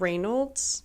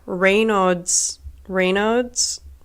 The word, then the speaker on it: Raynaud's: I have Reynolds. Wait, I always say it wrong. Hang on. Okay, yeah, Raynaud's disease, which means that I have bad circulation